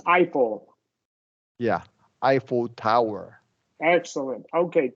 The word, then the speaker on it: Eiffel: And this is pronounced Eiffel.